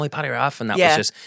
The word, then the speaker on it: Paddy Raff: And you are Paddy Raff. Am I pronouncing that correctly? Yeah, that's the same.